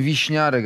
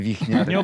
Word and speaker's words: Wichniarek: Dziesięć lat w Niemczech mówili na mnie Wiśniarek, a nie Wichniarek.